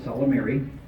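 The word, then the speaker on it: Ysalamiri: How do you pronounce the Salmari, Jorah Sabath, and Luke with multiple U's? A Salamir, plural, a Salamiri.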